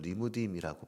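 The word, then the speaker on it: לִמּוּדִים: 원어로는 리무딤이라고 발음하는 단어입니다.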